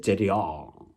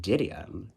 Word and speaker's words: Didion: I always pronounce it Didion. But, you know, people pronounce it Didion.